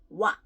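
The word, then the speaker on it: 와: So wa, o and a, so wa, quickly to make one syllable, wa, right? So it's like wa sound, wa.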